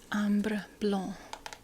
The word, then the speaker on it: Ambre Blanc: Okay, so Google is telling me it's pronounced Ambre Blanc.